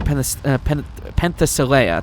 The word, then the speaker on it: Penthesilea: Well, through Penthesilea, that's how you say it, Penthesilea's power, I picked up an unusual signal just past the 20th floor.